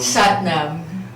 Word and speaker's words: Satnam: Satnam.